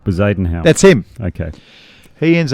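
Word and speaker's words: Bezuidenhout: Bezadenhout.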